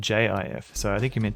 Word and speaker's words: GIF: was meant to be a pun on the peanut butter, which is spelled J I F.